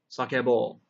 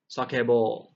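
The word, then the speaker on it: さけぼう: Sakebu, sakebo. Hakobu, hakobo. And sasu, saso. Okay, so again, remember the pronunciation is very important. So not saso, saso, sakebo, hakobo. We want that long O at the end.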